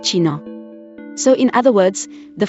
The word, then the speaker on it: China: The ch is pronounced as the ich sound, not the one in Scottish loch, and was sometimes used word initially in old forms of German. In these word initial positions, it was eventually replaced by k, leading to a frequent mispronunciation of China as Kina rather than China.